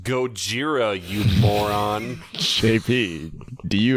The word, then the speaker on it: Gojira: It's pronounced Gojira, you moron.